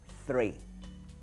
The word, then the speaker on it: three: 3 comienza con TH y estas letras juntas se pronuncian usualmente como una Zeta, three.